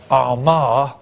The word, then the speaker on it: Armagh: And in the Middle Ages, his church, Armagh, as it's pronounced, which is here, okay, was, or at